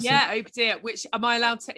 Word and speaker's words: Obadiah: Is that how you pronounce it? Yeah, Obadiah, which am I allowed to interject quickly with a great fact about that?